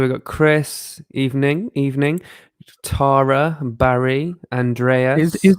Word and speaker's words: Tara: tara barry andreas is is it taro or tyra tara t-a-r-a yeah i thought we might be saying it wrong no i think it's because of her accent oh okay because it's terra yeah i think that's how she says it's our british way of saying it yeah and we're like